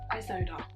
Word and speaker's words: Isolde: I'm trying to remember how to pronounce her name. My brain goes foggy. Isolde, that's it. I have to see the name to be able to say it. Isolde, that's the name.